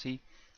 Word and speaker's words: psi: Alpha is defined as R over 2L, and psi is defined as R over 2 omega 0 L. Psi, or sometimes pronounced C, is the damping factor of the network.